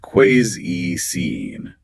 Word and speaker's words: cuisine: It is not cuisine, and it is certainly not cuisine. It's pronounced cuisine.